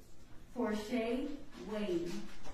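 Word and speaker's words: Porchae Wade: State your name and spell it for the court, please. Porsche Wade.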